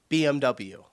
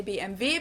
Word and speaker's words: BMW: In English, people say BMW. BMW. In German, we say BMV because W is pronounced V in German and it stands for Bisha Motor, which means Bavarian Engine works.